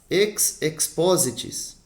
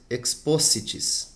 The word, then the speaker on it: ex positis: do Coração Amigo ex-corde ex positis do que ficou exposto pode-se pode ser também exposis o ex ofício e